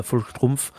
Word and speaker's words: Volkssturm: Et pourtant, j'ai fait de l'allemand, donc je sais prononcer le V correctement. Il faut faire F et pas V.